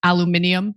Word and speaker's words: aluminium: These are tariffs on steel and um aluminum, which I'm always tempted to say as aluminium because I just love the way the British pronounce it.